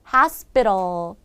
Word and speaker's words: hospital: 같이 읽어 볼까요 osal hospital 여기에요 sp 숨어 있어요 그래도 우리가 된소리 내줘야 돼요 sp 스부 발음 되고요